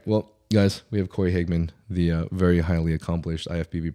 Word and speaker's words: Hageman: you say your last name by the way hman hman yeah yeah okay yeah all right well guys we have Cory Higman the very highly accomplished ifbb Pro coach and